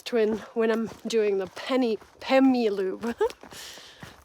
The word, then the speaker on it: Pemi: However, South Twin is part of the Pemi Loop, and so I want to bag the South Twin when I'm doing the Pemi Loop. Penny. I want to keep saying penny, but it's Pemi Loop.